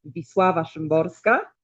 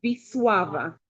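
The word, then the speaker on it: Wisława: Y ahora, perdóname por pronunciar bien, pero es visua. Perdón, perdón. Eh, es hay que poner u como visuava.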